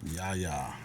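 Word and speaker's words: Yahya: in the uh rotation, but uh how you pronounce his first name? Yaya.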